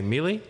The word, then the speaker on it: melee: this he knows it what do i say mealy mealy it's a different pronunciation sorry oh melee whatever you want to say melee melee but